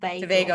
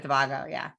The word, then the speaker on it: Tobago: Yes, we are rooting here for all the teams, and Trinidad and Tobago. I'll try to continue to get that right. Thank you. Tobago instead of Tobago.